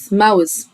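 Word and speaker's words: mouth: بعد كده كلمة فم، الأو واليو بننطقها والتي والاتش انطقها س. يبقى عندي هنا أول حاجة الأو واليو بنطقها والتي والاتش انطقها س، يبقى ماوث.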